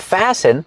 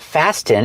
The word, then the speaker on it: fasten: I can fasten my seat belt. Remember, with the verb fasten, the T is silent. It's not fasten, it's fasten.